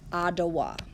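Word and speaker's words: Odawa: like this with a t atawa but we pronounce it ah dawah okay and the ottawa people lived in other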